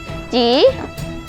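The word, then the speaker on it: 吉: นี่เกือบเสร็จแล้ว นี่ ตัดเสร็จแล้วครับ แล้วพวกเราก็กางออกนะครับ แล้วมันจะเป็นรูปเสือสองตัว แล้วมีข้างบนเป็น อย่างที่บอกนะครับ ข้างบนจะเป็นตัวอักษรจีน ที่อ่านว่า จี๋ ที่แปลว่า สิริมงคล แล้วก็ข้างล่างจะมีเสือสองตัว นี่ สวยมากเลยครับ เพื่อน ๆ ลองไปทําเองที่บ้านกันนะครับ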